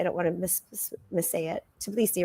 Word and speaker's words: Tbilisi: Tbilisi, right? Is that how you say it? Tbilisi, Georgia, yeah.